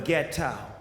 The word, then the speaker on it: Leggero: Leggero.